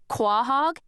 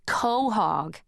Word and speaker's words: quahog: Only they said it the way it's spelled, "Quahog," instead of the way it's supposed to be pronounced, which is co-hog, and I was all, "You don't know what a cohog is?"